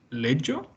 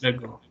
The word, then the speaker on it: leggo: Io leggo. No. ¿Cómo suena la geo? Go. Go. Entonces, Leggo. Leggo. leggo. Bien, acuérdense, tenemos una doble G que es dura, frenamos, decimos go.